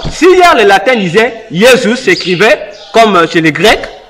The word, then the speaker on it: Jésus: Jésus, non? Par rapport à la prononciation des lettres, là, on prononce Jésus.